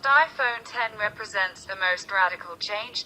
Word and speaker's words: iPhone X: the iPhone X pronounced iPhone 10 represents the most radical